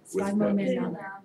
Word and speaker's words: sphygmomanometer: Sphygmomanometer.